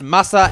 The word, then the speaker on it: Masa: mind they are pronounced masa and muninn the only way to be certain of this pronunciation is to know that the most famous swordsmith in the history of japan was a dude named Masamune he lived a long